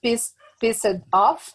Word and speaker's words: pissed off: Pay attention to the pronunciation. Pissed Pissed. off. No. Pissed off. Okay. Pissed off. Because of the end of the verb is S-E-D. You use T. T. And then you pronounce together. Pissed off.